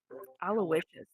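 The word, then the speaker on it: Aloysius: name is alowishus French aloicious that is a name Al aloicious French it's aloicious but it is not spelled correctly it is literally spelled like Al and then luscious interesting because the reason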